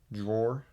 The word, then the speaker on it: drawer: Got Drawer. some motor ol. Drawer. Drawer? How else do you say it? Draw. Drawer. Rhyming with straw. Drawer. Get shortened to draw.